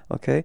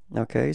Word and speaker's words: au: Thing is not ending with as with France OK So it does mean that this countries masculine and the proposition you will have to use is o OK So you write it a then you pronounce